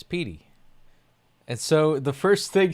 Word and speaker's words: Petey: It's Pey." And so the first thing she said was just like Pey.